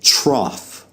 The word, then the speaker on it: trough: at some of those o u g h letter combinations that have the F sound as in off okay so you're going